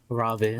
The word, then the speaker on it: Raven: Let's start off with Raven. Let's play the trailer. His name is pronounced Ravin. Lavin, yeah, Lavin.